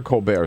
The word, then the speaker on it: Colbert: Do we call him Colbert now or Colbert still? Colbert. It's funny, when he went to Northwestern many years ago, it was Colbert, but then somewhere along the line he changed